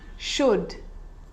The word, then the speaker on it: should: makes it easier in these words where l is really difficult to pronounce then it's silent ready let's try it could could could should should talk talk walk